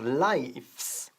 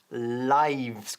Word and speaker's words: lives: No decimos lives, sino lives, con V.